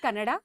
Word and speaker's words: Kannada: first up I think let's get the pronunciations out of the way it's Karnataka it's kannada Canada and it's Canada so the a is very important and I think just